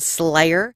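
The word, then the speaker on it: Sleigher: a Krampus band called Slayer so I went to Slayers Facebook page their band name is spelled like Santa's sleigh SLE IgH er they're pictured wearing the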